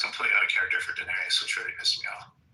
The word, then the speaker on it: Daenerys: Um I know, but I just I'm like like it's Daenerys. Oh, Daenerius. I added extra syllable.